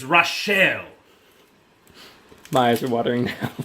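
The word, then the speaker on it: Rachl: What's that name Marcus like how would you pronounce that Rachel no it's rashelle my eyes are watering now goddamn right there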